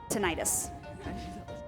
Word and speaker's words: tinnitus: close its - I don't know if I'm pronouncing yeah no it's tinnitus though often referred to as Scandinavia the common